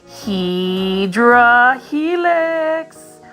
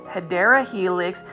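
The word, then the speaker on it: Hedera helix: here is our first HRA helix or the correct way to say it is hyera Helix um English ivy this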